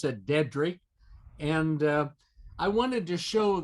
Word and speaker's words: Dedrick: And they were very staunch and firm about our name is pronounced Dedrick, D-E-A-D, and then Rick. So it's not Dedrick, and there's no other flair to it according to the family.